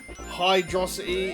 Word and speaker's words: Hydrocity: Uh, and we are here in the hydro city zone or hydroity if you are ever so much inclined. I personally have always pronounced it as hydro city and I know